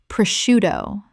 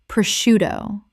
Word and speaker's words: prosciutto: Common mispronunciation, prosciutto. Correct pronunciation, prosciutto. The sc makes an sh sound in Italian, which English has kept.